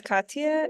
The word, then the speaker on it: Katya: Yeah, it's Katya.